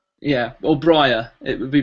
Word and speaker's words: Briar: actually br b-r-i-a-r like like the plant right r yeah or briar it would be pronounced